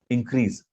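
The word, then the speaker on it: increase: पहले तो उसका उच्चारण ही गलत कर देते हैं, इंक्रीज ज बोल देते हैं, ज नहीं स। इंक्रीज, डिक्रीज।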